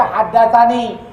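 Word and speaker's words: حدثني: Tulisannya tani, tapi wajib kita baca haddatsani. Tulisannya tanah, wajib kita baca haddatsana.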